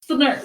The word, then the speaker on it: Snert: Okay, so it's an S and then a th and then a nerd. So it's Snert. You Snert. gotta say it all together.